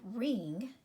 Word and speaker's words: wring: So you have ring. this word that we talked about yesterday, there's our silent consonant pair. The W is silent, you only hear the R.